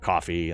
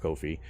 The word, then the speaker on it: Ko-fi: of people pronounce it coffee and that's kind of what they lean into is hey buy me a coffee but it's actually pronounced Kofi it's like no fee Kofi that that's how it's